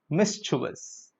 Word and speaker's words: mischievous: So mischievous is incorrect. It is mischievous.